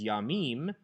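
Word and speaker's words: יַמִּים: Instead, seas is yamim, with a dagesh forte in the mem, and a short a patak, under the mem.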